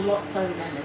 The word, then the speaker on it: Lotso Lemon: This is another scent that's no longer available from one of my older consulting kits, and that is Lots of Lemon, or Lotso Lemon, it's pronounced as.